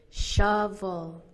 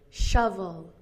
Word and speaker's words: shovel: And actually the word shovel has both of the phonemes, both of these sounds, the stressed sound and the unstressed vowel, the schwa, shovel, shovel.